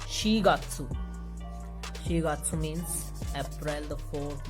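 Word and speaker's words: 四月: This would be pronounced as shigatsu.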